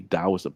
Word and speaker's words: Daoism: Uh before it was called like taoism, but it's technically supposed to be daoism because of what you call hanupin.